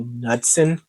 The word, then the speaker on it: Knudsen: But Connor, I'm going to take a shot in the dark, and his name is actually Knudsen, and the K is silent.